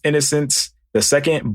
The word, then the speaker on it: Innocenceii: n o c n c e i i pronounced innocence the second but i just refer to myself as innocence